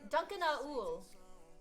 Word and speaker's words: Duncan Aul: Dunk is fine, but phonetically, it is Duncan Aul.